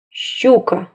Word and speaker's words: щука: Звук «щ» – глухой согласный. Обратите внимание на уголки рта. «Щ», «щ», «щ». Звук «щ» – согласный, глухой, мягкий.